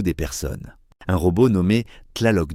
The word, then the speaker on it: Tlaloc: Tlaloc se prononce Tlaloc.